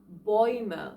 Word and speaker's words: Bäume: Another diphthong with similar pronunciation, oi, is the diphthong of A umlaut and U. So these 2 vowels go together and gives us a oi again. For example, Bäume like trees or läuft like running.